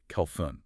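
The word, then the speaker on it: خَلْفٌ: But the word used here is khalfun, with a silent lam.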